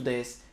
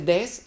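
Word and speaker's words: です: To des or not to des.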